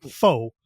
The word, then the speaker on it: fours: and then like the word for ovens is fours when you spell it out, but when you say it's faux, and you're like, come on, man.